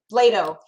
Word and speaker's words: Bladeau: Bladeau. Play-Doh. Yeah, Bladeau. So that's correct.